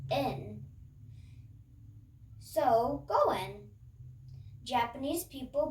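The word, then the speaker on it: 円: five in japanese and yen is pronounced more like in so go in japanese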